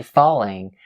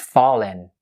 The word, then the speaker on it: falling: You can just say falling. But for the second way, you drop the G at the end and say it fallen.